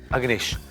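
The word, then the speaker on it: Agnesh: और मेरा भतीजा अग्नेश आ रहा है वहां पर।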